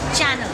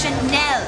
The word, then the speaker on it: Chanel: hate the word babe it's not channel it's Chanel and she's said herir